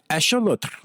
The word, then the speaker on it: axolotl: And the way it is pronounced in that language is axolotl. And there's this weird, like, roly-trilly thing that you do with your tongue at the end, which I did pretty well there, actually.